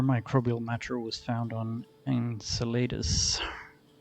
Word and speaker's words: Enceladus: ice after similar microbial matter was found on enceladus how you pronounce it enchiladas and chelatus enceladus another satellite of saturn it seems increasingly possible